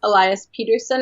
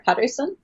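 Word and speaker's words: Elias Pettersson: they have a and I don't know if I'm supposed to pronounce it as Elias Peterson or Patterson because he made that fun video where he said pronounce my name like an American its allies Peterson and then the broadcast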